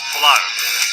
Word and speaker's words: Tolar: Oh, it's like dollar. Okay, Yeah. cool. So the green one. Okay. Stage is yours. Thank you. Hi, technical co-founder of Tolar, and today I'm going